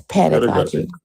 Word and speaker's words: pedagogy: What did I mispronounce? Epistemology? Pedagogy. and, It's pedagogy.